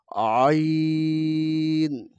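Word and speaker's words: ع: যে হরফটি দেখতে পাচ্ছি এ হরফটি চিকন করে গলার মধ্যখান থেকে আনতে হবে যেরকম আইন আইন আইন আইন আইন এখানে যে হরফটা দেখতে পাচ্ছি এটা হলকে শেষ থেকে উচ্চারণ করতে হবে।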